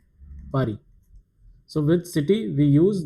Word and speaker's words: Paris: The pronunciation is Paris.